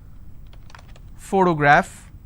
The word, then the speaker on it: photograph: example if i have the word photograph again i have first sound so just because i have the letter p doesn't mean i can pronounce this as per always all right i also